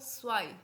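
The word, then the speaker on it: zwei: हैं ions one को बोलोगे आइंस टू को स्वाय स्वाय स्वाय क्या बोलोगे स्वाय मेरे साथ रिपीट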